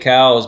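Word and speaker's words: Coues: Lieutenant Elliott Cows, and actually it's properly pronounced Cows deer, but everybody calls it Koos deer, and I think it's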